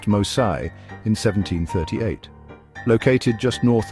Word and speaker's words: Mose: The Spanish commitment to providing refuge for escaped slaves culminated in the establishment of Fort Mose, pronounced Mosai, in 1738.